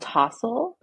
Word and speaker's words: TSOL: It's called TOSL, but it's spelled TSOL, which is Oh, I lost love that.